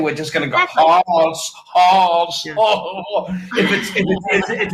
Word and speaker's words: Haas: Just like with Haas avocados. Like, so we're going to take, if it was always Haas, which rhymes with pass, very easy to spell, 2 S's at the end, very common.